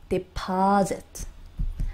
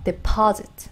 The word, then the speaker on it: deposit: 자, 여기는요, 스 이렇게 되지 않아요. 여기는요, 부드럽게 즈 발음을 넘어갑니다. deposit. 한번 읽어보실까요? deposit.